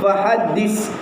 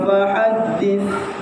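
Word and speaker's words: fahaddith: Kalau kita sebut fahaddis, dia huruf sin. Apabila kita bukan huruf sin, maka hukumnya berdosa. Sebab dia menukar kepada makhraj. Makhraj yang betul adalah huruf sa. Safiru. Jadi bacanya wa amma bi ni'mati rabbika fahaddits. Maksudnya mau tidak mau kita kena belajar makharijal huruf.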